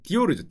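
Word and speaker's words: Dior: 그때가 누구였냐면은 프랑스에는 당시에 프랑스 패션계를 주름잡던 두 사람이 있었는데, 한 분이 크리스찬 디오르, 발음이 좀 굴러가야 되는데 디오르죠.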